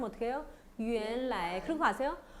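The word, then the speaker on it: 原来: 原来. 그리고 아세요? 원 발음은 제가 유엔 발음 난다 그랬잖아요. 이성이 제일 많은 것 같아요. 이성이. 모르면 이성으로 찍어요. 그래서 어떻게 해요? 原来.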